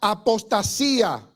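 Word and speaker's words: ἀποστασία: Qué es la apostasía viene de la palabra griega apostasía sin acento en la i sin acento significa salida partida rebelión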